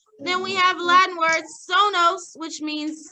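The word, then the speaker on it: sonus: Okay, next we have our Latin word this week, which is sonos. Say that. Sonos, right here. Let's spell it, the S one.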